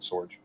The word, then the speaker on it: Sorge: were spot on at Sorge it's actually German I am mostly Irish Believe It or Not My Name is actually German but yes so it's Sorge like George but Sorge great good job Ry